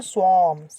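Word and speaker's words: swarm: टिड्डी के ग्रुप को क्या बोलते हैं, स्वार्म्स, क्या बोलते हैं, स्वार्म, स्वार्म, है ना, आर साइलेंट इसलिए स्वार्म बोल देते हैं।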